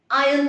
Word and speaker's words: iron: iron your shirt not iron iron so you iron the shirt i am the uniform the r is silent but where is your shirt it's in